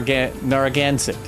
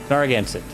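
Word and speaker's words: Narragansett: Uh, gan. Not can. Nar. Narogansit. Naransit. Just like it's spelled. Nargansit. Gan. Okay. Is that better? I think that's better.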